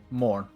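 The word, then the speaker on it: morgen: Morn. The Morn. G is silent. Go, morn. Like, sometimes when E and N at the end of a word, they kind of merge.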